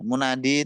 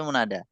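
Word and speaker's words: مُنادى: Jadi bukan munadi tapi munada. Yang dipanggil.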